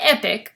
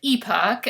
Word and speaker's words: Epoch: 2004 by epoch japan not epic but epoch i've been pronouncing it wrong and i heard a lady from epoch actually pronounce it correctly so then it came